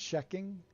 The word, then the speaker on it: Kjekking: Oh, it is a hard K, so it's checking.